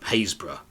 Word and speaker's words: Happurg: few miles upwards to hazb which is spelled happurg if you ever see it on on the map which has a spectacularly